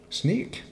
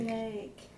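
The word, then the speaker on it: Sneek: Sneak. Sneak. How do you say it with an accent? Sneak. Snake.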